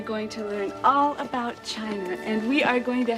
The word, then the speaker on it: Qin: the great wall of china was designed by the emperor quinn whose aspirations excuse me it is pronounced tien oh thank you mr lee emperor chin who was a wise